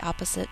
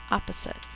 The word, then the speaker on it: opposite: end of a syllable we hear both p's when we spell we only hear one in speech opposite spell out loud